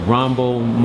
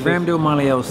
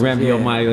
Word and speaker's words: Rhabdomyolysis: I know Bermane had, I always pronounce this wrong, Rambomyolysis. I think it's Rhabdomyolysis. Rhabdomyolysis.